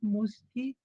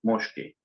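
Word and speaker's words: muški: La Z con Kvachica se transforma ahora en una S con Kvachica por estar la Z con Kvachica influenciada por la K que viene después, Mushki.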